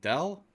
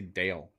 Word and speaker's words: Dell: How do you say it? Dell? Dell. Why does they want to say Dale?